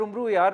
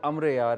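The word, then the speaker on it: Amar Ayyar: अमर जो उसका नाम है, और वो मेरे ख्याल से हमारी जो एक्चुअल प्रोनाउंसिएशन है अमर यार है। हम लोग उम्रू उम्रू कहना शुरू हो तो गए।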